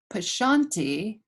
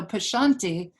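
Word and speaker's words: pashyanti: p-a-s-h yanti y-a-n-t prashanti the y kind of slips out prashanti okay so pashanti is two or three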